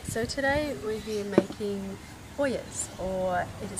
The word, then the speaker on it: ollas: Okay, so today we're here making Ollas, or it is spelt O-L-L-A-S, pronounced Ollas or sometimes Ollas.